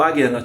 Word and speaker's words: Ajna: Entretanto, a pronúncia correta realmente para esse chakra é o Ajna Chakra, com uma ênfase no A.